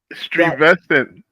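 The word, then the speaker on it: Stuyvesant: So I went through my entire childhood really pronouncing it Stewie. That's funny as hell. Yeah. Okay, that's what it looks like. Stuent. I did not know until I was an almost an adult high school. Strevestcent.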